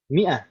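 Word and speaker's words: مائة: Mi'ah itu yang ada alifnya. Jadi orang alifnya ini alif fariqah. Jadi orang nggak bingung kalau tulisannya seperti itu, berarti bacanya mi'ah, bukan minhu atau yang lain.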